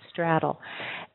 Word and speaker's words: straddle: is to straddle and it has an a sound in it St straddle um it's a little